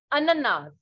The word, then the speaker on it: ananas: So that is the same thing, but in French the pronunciation and the spelling is different and it is ananas.